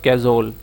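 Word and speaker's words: cajole: करिजिबल, करिजिबल क्या होता है, कनाइव और आपका कैजोल, ठीक है, काजोल भी बोलते हैं कई लोग, इसको कैजोल भी बोलते हैं, कैजोल होता है वैसे सही प्रोनाउंसिएशन।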